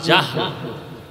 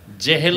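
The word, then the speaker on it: জাহল: নাম এইমাত্র তো বললাম আবু জাহাল জেহেল না জাহাল নাম হলো ইমাম গাজালি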